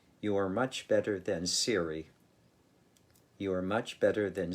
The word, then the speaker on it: Siri: i first heard of siri which rhymes with the word cherry siri being the virtual